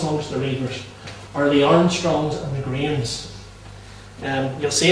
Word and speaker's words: Armstrong: the Reivers are the Armstrongs and the Grahams. You'll see it in Old Scots, the Armstrongs are referred to as the Armstrangs, is the way it can be often pronounced.